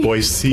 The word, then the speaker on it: Boise: Boise? Boise. It's the Okay. S. Okay. That's Yeah, what yeah. they want. The That's- C, not the Z. Boise.